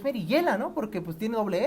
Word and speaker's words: Merillela: para platicar meriyela merillela Cómo se pronuncia tu nombre tal cual merillela Sí así Yo decía me tocó escuchar en alguna entrevista que te hicieron Mariela y yo dije pero es merillela no porque pues tiene